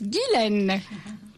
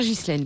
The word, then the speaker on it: Ghislaine: Vichy qui nous dit gisline se prononce Guilen voilà alors donc c'est on me l'a déjà dit VO bon voilà et nous vous avons posé la question au début de l'émission pourà pour vous demander la prononciation je préfère je préfère giselen je suis désolé alors